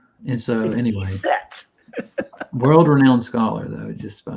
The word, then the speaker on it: Iset: Isis isn't even Isis in Egyptian. Right. It's Iset. And so anyway, Iset.